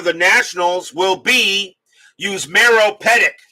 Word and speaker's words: Petit: It's pronounced petit like petite. Oh, so it is petit. It is petite.